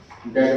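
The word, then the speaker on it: debt: डेट word में ध्यान दें, बी अल्फाबेट साइलेंट है।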